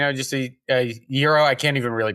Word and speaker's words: gyro: Oh, I mean, is it boring to say, just a gyro? I can't even really pronounce it.